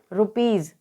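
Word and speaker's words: rupees: आई एस को हम यहां पढ़ेंगे यहां पर रुपीस इसी प्रकार से टी ओ ए एस तो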